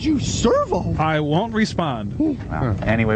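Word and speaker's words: Sirveaux: It's not Servo anymore. It's Servo. It sounds the same, only it's spelled S-I-R-V-E-A-U-X.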